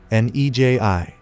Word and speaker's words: Neji: N-E-J-I."